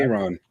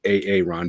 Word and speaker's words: Aaron: whole AA run thing, my son actually thought that the name Aaron is actually pronounced AA Ron because of the way it's spelled.